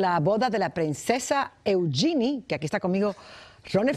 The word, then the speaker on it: Eugenie: Se escribe Eugenie, se pronuncia Eugenie.